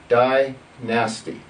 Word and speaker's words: dynasty: dynasties okay what is dynasty if you slow it down into you know basically into is to two syllables we're gonna die nasty dynasty dynastic yeah military protects